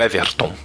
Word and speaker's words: Everton: Meu nome é o Everton. É pronunci assim mesmo.